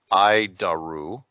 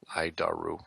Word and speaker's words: ADIRU: data initial reference unit we pronounce it i daru i daru oof it's a horrible